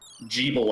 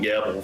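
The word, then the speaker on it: Gebel: to the party um jebel i believe is how his name is pronounced in the ritual of the night i called him gavel for a while but i guess that doesn't really make a lot of sense jebel i guess sounds better um also very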